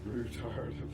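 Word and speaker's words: Ruthard: It's like Rutherford, but it's pronounced Rootard.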